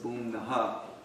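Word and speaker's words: भूम्नः: of the fourth line, if there's a dot under an H, they give it that ha, so it's bhumnaha.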